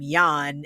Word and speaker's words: Jan: leader of that team I believe you pronounce his name Yan it's spelled Jan but I think it's Yan Leica also criticized the